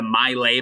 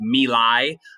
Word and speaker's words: My Lai: this whole event uh it looks like it's the maile massacre i've heard it's actually pronounced milai uh it's a village